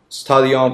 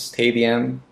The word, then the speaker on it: stadium: You had some mispronunciations, however, like stadium, it's stadium, okay? I can get you, but it's better to pronounce the word correctly when it comes to the test.